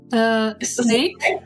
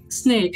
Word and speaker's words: Sneek: But the first one is Sneek. Snake. So with the double E, right? Snake.